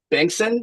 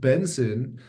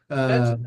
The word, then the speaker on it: Bengtzen: I am super stoked to be joined by Bengtzen. Am I getting it? Am I close? I No, feel like I well, always I will I, respond to Bengtzen, but it's actually just pronounced Benson. Benson.